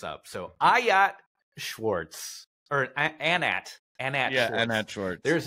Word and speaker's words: Anat: spell it right yeah so Annette is different um but anat is spelled a n